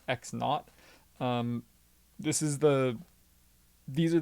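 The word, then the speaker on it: x₀: is actually a not symbol so this is pronounced x naught this is the these are the variables that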